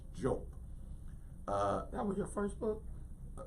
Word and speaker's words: Diop: Now, in our English pronunciation, we say Diop, but I understand that the correct pronunciation is Jope.